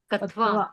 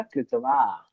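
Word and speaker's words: क्त्वा: कत्वा प्रत्यय। कत्वा त्वा प्रत्यय क क्या है आधा है और शब्द के स्टार्टिंग में है तो उसका उच्चारण प्रॉपर नहीं आ पाता इसलिए उसको हम पढ़ेंगे त्वा प्रत्यय ठीक है अब आपको कुछ भी नहीं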